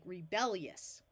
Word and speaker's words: rebellious: and an O rebellious just like this word up here ingenus tends to sound more like three syllables with the I taking on almost the sound of a y the same thing happens here rebellious quickly turns into sounding like rebellious here we divide between